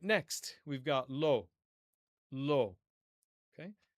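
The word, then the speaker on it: לא: All right, next we've got lo. Lo. Okay? With niqqud, you can see that there is a dot above the aleph.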